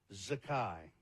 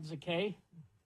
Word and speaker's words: Zakai: Zakai. Z-A-K-A-I. Not Zakay? No, I don't believe so.